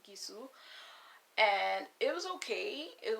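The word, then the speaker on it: Gisou: Not Jisoo, Gisu.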